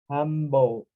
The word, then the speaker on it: humble: For example, with the H sound is hum, hum, humble. But we can find just like humble, humble, humble, without the H pronunciation in the same way.